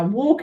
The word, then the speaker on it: walk: is hard isn't it because you might have spell it like this say walk okay but it's got an air L in it who'da thought it's walk so it's like walk that's annoying isn't it so you could tick tick tick and then just fix the R for an L okay so silent L whelk